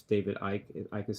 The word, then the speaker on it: Icke: It's David Icke. Icke is spelled I-C-K-E.